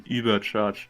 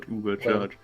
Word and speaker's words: Übercharge: Although it's like spelled with an Ü. So Yeah. yeah, the correct pronunciation would be Übercharge, not Ubercharge.